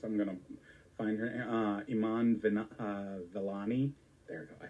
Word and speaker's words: Iman Vellani: I'm going to find her, Iman Vellani.